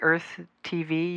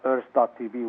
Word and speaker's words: Urth.tv: And then Rowan, your wife, is it Rowan, or you and Rowan created Earth TV, URTH.TV?